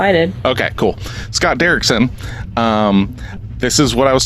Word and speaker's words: Scott Derrickson: Scott Derrickson, is that how you pronounce his last name? That's how I did. Okay, cool. Scott Derrickson.